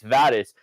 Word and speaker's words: Vadas: And I was like, you would have to say it wrong because it's Vadas.